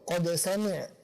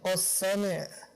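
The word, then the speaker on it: قَدْ سَمِعَ: Atau qad sami', bukan qas sami'.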